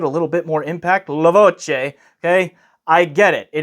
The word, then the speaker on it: Voce: Because this is Italian, the correct pronunciation of this unit is Voce.